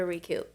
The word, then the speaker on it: Rekup: Utah you need to go to recoup and to in South Jordan r-e-k-u-p it's spelled a little different and what's after our